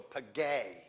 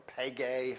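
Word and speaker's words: πηγή: Yeah, you got to move the accent. It didn't get there. It's on the last side. So pagay, or pagay, however you want to say that. But the accent is on the end.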